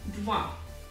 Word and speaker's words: два: Два. And it's pronounced like this.